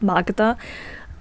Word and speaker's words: Magda: there's like this Aunt Magda which is very funny because that's literally my sister's name I mean in Polish you pronounce it like Maga but anyway that's all